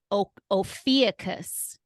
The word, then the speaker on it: Ophiuchus: Ophiuchus.